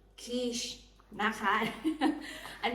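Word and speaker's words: quiche: ก็ คือ Q U i c h e kish นะ คะ อัน นี้ สำหรับ 2 คน อัน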